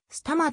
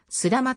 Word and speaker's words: 須玉: なった魑魅はすたまと読むのが正式であるがスラマという読みも間違いではない街の北部長野